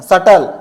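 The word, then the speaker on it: subtle: यदि बी के बाद टी हो। बी के बाद टी आता है दो। बी साइलेंट रहता है।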